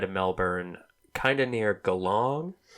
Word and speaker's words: Geelong: kind of near Geelong, which we were mispronouncing as Geelong. And one of my comedian friends laughed at us and goes, "Oh, Geelong, you mean Geelong?" And Allie goes, "Then why the extra E?"